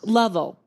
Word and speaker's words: Lovell: Well, let me just say, folks, it's Lovell.